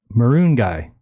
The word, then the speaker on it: Moringa: We've got, I heard the pronunciation is Maroon Guy. Heard from Dr. Shiva, so maybe they say it like that in India. Do you know anything about the pronunciation? Yeah, you can say it that way.